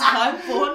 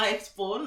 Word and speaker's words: HIGHXBORN: And then obviously, you know, why we have the X, which is silent. Because it's just I just realized, yeah, it is silent. It's HIGHXBORN, not HIGHXBORN, like he said.